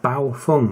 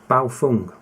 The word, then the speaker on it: Baofeng: the radio the uh bow Fung I've been told off for saying it wrong so it's a b Fung this is the R5